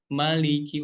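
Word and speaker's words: مَلِكِ: Maliki, ujung lidah kita nempel ke langit-langit yang atas agak depanan dikit. Maliki, Maliki. Nah, kemudian huruf kaf juga seperti huruf K nih ya, seperti huruf K di ejaan bahasa Indonesia.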